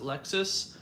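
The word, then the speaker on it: LXS: There's Lexus, like L lowercase x s. They pronounce it Lexus.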